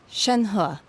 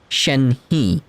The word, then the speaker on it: Shenhe: It's like, had I read that name, even though the H sound is spelled exactly the same with H-E, it's like I would have put he on the end, like Shenhe. It's a different sound.